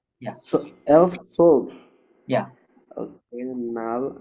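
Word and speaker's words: null: নুল নুল, zero না, নুল।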